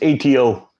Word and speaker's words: ATO: list it'll be your pick how's my name pronounced it's atto but my real name is everyone calls